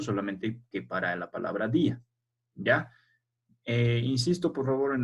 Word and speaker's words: día: Y como la I es una vocal débil, si no tuviese su tilde, sería dia. Así se tendría que pronunciar. Entonces, para que se pueda pronunciar día así separando, tiene que tener la tilde. Si no marcamos la tilde, entonces cambia la pronunciación. Ya no se dice día, se dice dia.